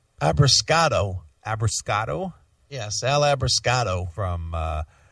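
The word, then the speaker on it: Abbruscato: Abrascato.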